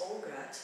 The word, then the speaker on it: Ogot: written by the author Grace ogot I believe this is the pronunciation and uh I found